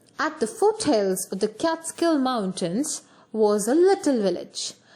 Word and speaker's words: Catskill: the bracket okay so it's not supposed to be pronounced as cut skill it should be pronounced as cat skill okay so let us